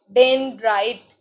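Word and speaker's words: dendrite: What is this, you have to pronounce it like डेंड्राइट.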